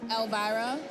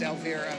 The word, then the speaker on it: Elvira: I mean, they would say Elvira, but her name was Elvira. Oh, Elvira, Elvira, sorry. They would get it wrong.